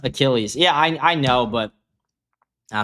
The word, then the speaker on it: Achilles: Someone said it's pronounced Achilles.